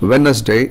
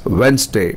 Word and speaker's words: Wednesday: not let use it is lettuce it's not Wednesday it is Wednesday it's not extempore it is extemporary thank you